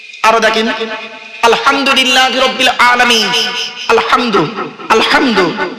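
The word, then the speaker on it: الحمد: দেখেন আলহামদুলিল্লাহি রাব্বিল আলামিন আলহামদু আলহামদু এই গলার ভেতর থেকে উচ্চারণ করবেন আলহামদু মানে হচ্ছে সমস্ত প্রশংসা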